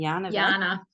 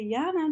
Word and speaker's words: Jana: okay so in Australia even though Australians can say the hard J you guys have a famous actress or news reporter or somebody named Yana Yana and so when I try to say my name here like I would back home people are like what but if I just say yeah now then they're like oh yeah yeah so okay